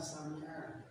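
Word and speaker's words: سمع: Jadi beda jauh ya antara hamzah sama ain. Ain artinya dengar sami'a. Sami'a ya, sami'a. Kadang-kadang kita ingat para muda yang memang kayak gitu bacanya sami Allahu liman. Kalau sami kalau hamzah yang betul tulisannya ain.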